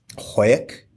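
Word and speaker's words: Hawick: or eight years ago hoek probably pronouncing that wrong h a w i c k yeah you right oh yeah okay is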